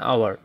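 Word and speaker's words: hour: ফর এটা হবে এন আওয়ার আমরা জানি যদি ইউ বা ওয়ার মত উচ্চারণ হয় বা ওয়ার মত উচ্চারণ হয় তাহলে আমাদের সেটি পূর্বে এন বসে এন বসে কনসোনেন্ট হওয়া সত্ত্বেও তাহলে হি হ্যাজ বিন ওয়ার্কিং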